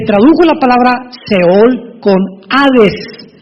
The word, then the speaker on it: Hades: Esta versión del griego, del hebreo al griego se tradujo la palabra seol con hades, con h que muchos dicen jades. Se puede pronunciar así porque es en el griego.